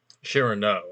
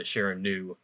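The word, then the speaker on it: Chiraneau: So Chirano, I think, is the French pronunciation. But Joe Olson has converted me into the Chiranu group.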